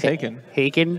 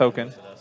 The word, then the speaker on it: Haakon: some Hankins hulking I don't care it says hakin haken I know it's pronounced really yeah I know it's pronounced oaken hey there's no end in by the a